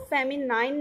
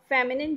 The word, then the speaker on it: feminine: ध्यान रखिएगा, इसको भी हमको फेमिनाइन नहीं बोलना है, इसका करेक्ट जो प्रोनाउंसिएशन है वो क्या है? फेमिनिन gender.